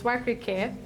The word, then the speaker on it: Wakirike: It's actually the original name for Okrika. I know there are people here who know Okrika, but when the white man came, he was too lazy to pronounce Wakirike, so he just Okrika, and then the name stuck. But it's actually Wakirike.